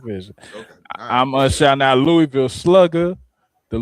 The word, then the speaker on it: Louisville: I'm shouting out Louisville Slugger. The Louisville Zoo. First of all, it's Louisville. Like I said, it's not Louisville.